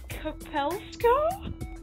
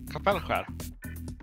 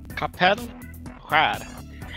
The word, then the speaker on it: Kapellskär: Kapellskär. What? Kapellskär. What? Kapellska. I don't fucking know. Yeah, the A with the two dots above it's A. Okay. And Kapellskär. You don't even pronounce the S.